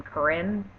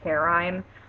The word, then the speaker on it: Corinne: And first off, I would like to give an honorable mention to, how do you say your name? Corinne? I've been saying it Carine.